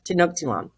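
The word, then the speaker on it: Tenochtitlan: tilan some of these names are hard to pronounce um there we go to no tilan um so the spanish invaded tanophthilan and then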